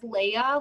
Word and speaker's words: Leia: Did you say her name is Leia, like Princess Leia?